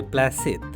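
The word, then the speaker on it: planchette: বললে, ভুল হলো, ওর উচ্চারণ হবে প্ল্যাসেদ। থাম, বেশি ওস্তাদি করিসনি।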